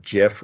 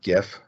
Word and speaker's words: GIF: formats we've got jpg we've got Jif or gif both pronunciations of course being valid pngs JPEGs our JPEGs